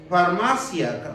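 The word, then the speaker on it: φαρμακεία: Es farmacia, más o menos se pronuncia como farmacia, pero son fármacos.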